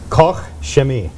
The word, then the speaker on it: Koch Chemie: So, Koch Chemie is the Good official luck. pronunciation. Now the K in the middle is often missed because they say it so fast.